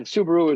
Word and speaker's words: Subaru: But Subaru is how you pronounce it there.